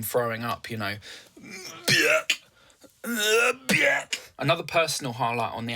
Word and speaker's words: Björk: I do prefer to say Björk instead of Björk. I love the way that name sounds when it's actually said with the accent, you know, Björk, it rhymes with jerk.